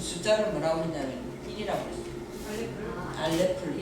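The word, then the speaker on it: אלף: 이걸 읽을 때 뭐라고 읽느냐 하면요, 알레프라고 읽어요. 처음 거죠. 우리는 이거는 기역 이렇게 하잖아요. 근데 그 사람들 이 글자 이렇게 처음 글자를 드러내놓고 이거를 알레프래요. 알레프 해보세요. 알레프. 이거 알레프라고 해요.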